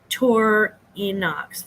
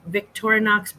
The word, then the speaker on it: Victorinox: often goes overlooked um also he said the Victorinox V Victorinox Brands Swiss Army Knights Swiss Army knives so